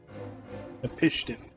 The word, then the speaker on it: Napishtim: Hey, I finally know how to officially pronounce that. Napishtim.